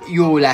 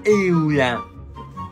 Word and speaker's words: Eula: Zerga, non si pronuncia Iula, si pronuncia Eula.